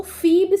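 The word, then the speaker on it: Phoebe: जिसका नाम फोबे है। हालाँकि वर्तनी इस पर 'फीबी' लिखा है। लेकिन इसका उच्चारण है फीबी। ठीक है? इसे 'फोबिया' कह लीजिए। नहीं यह इसे फोएबे में पढ़ा जाता है।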